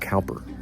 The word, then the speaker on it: Cowper: It's spelled exactly the same, only it was pronounced Cowper.